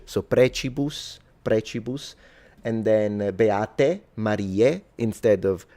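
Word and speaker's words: precibus: of course, Catholic doctrine and the pronunciation is clearly ecclesiastical because the C is pronounced as a ch. So preus prechibus and then mar instead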